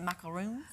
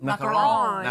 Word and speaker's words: macaron: Macaroons? Macaron? Macaron. Yeah. I remember learning in French class that you kind of almost have to sound, almost like there's something in your nose in a way to